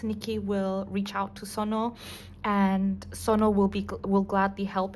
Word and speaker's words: Sunoo: Okay, so Sono. I'm so sorry, guys. Now I know how to pronounce his name. Hopefully that video was correct. But so Sono. Okay, apologies for calling him Sunoo.